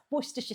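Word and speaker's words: Worcestershire: Now, if you don't pronounce it worstershire, I will not make fun of you for pronouncing it incorrectly. Well, you make fun of me for being British and pronouncing it the British way, though. Worstersha sauce.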